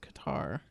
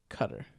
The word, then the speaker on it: Qatar: a Qatar holiday, and I thought it was pronounced Qatar. Mm-hmm. But I actually looked up the pronunciation. It's Qatar.